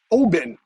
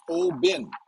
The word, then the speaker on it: Oban: well good evening everyone we are here in oben oban but it's pronounced oh bin and uh according to patron saint rick this